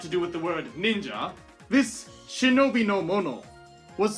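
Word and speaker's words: 忍者: Sha is the most common other reading for this kanji. However, when it is paired with this nin, as a rare case, it is pronounced as ja. And thus, this shinobi no mono could indeed be shortened and read as ninja.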